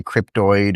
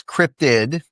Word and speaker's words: cryptid: Some people say cryptoid or cryptozoid and I hear different iterations but yes it is crypted.